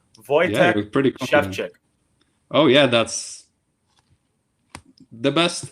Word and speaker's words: Wojciech Szewczyk: who are tuning in the proper pronunciation for your name and it took me a long time and i'm sure i'm still getting it wrong voyage chef check oh yeah that's the